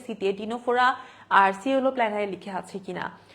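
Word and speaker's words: Ctenophora: সি দিয়ে দেখো টিনোফোরা, এটা কিন্তু সিনেটোফোরা না, ঠিক আছে, এটার বাংলা উচ্চারণ কিন্তু মনে রাখতে হবে, সেটা হচ্ছে টিনোফোরা।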